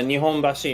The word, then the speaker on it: Nihonbashi: oh good yeah so it's the same kanji but if you're in tokyo or osaka it's pronounced differently and that's a real